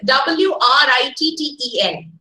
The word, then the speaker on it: written: a word i mean w-r-i-t-t-e-n w-r-i-t-t-e-n how do you pronounce that word ordinary one yeah summative good yes you can try aloud you understand the stresses on the first syllable written which one you are